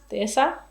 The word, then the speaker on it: Dehesa: And for this one, I used the same, the Dehesa la Rinconada Dehesa. I actually don't know how you say that in Spanish. You don't pronounce the H.